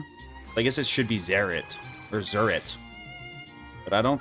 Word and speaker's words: Zeritt: It's pronounced Zerit? I mean, it's Zerit.